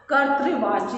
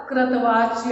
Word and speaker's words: कर्तृवाच्य: कर्तृवाच्य ही बोलिएगा, कृतवाच्य और ऐसे कुछ उल्टा पुल्टा मत बोलिएगा, क्योंकि मैं जब क्लास में भी पढ़ाती हूँ तो मैं देखती हूँ कि बच्चे इसका शुद्ध उच्चारण नहीं कर पाते हैं, लिख भले लेते हो लेकिन उच्चारण उनका बिल्कुल भी अशुद्ध रहता।